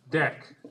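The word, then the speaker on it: deque: double it ended queue that gets shortened to d x which is pronounced deck often and java has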